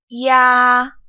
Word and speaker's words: ya: This compound final is ya, ya. It starts off as E and goes into ya, ya.